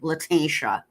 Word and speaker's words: Letitia: People get mad at me when I say Leticia, and I can't help it. I'm Mexican, and Leticia is how you'll say the name. But her name's Letitia. So let me say it correctly. Her correct pronunciation, Letitia.